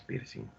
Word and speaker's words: piercing: Ah, con G no es piercing, es con N nomás, piercing. No pronunciamos la G.